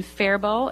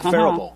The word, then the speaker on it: Faribault: That is on Cedar Lake in Faribault.